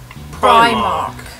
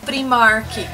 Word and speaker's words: Primark: hora de você pronunciar pronuncia da maneira correta que seria Primark e não Primark como muitas pessoas falam tudo bem no Brasil poderia até ser Primark né mas aqui na Inglaterra em inglês a pronúncia é Primar Primark então isso nós esperamos que